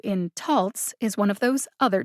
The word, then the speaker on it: Taltz: you probably know this there's a short o like fox a long o like bone a schwa o like bottom and still other types of o's the o in taltz is one of those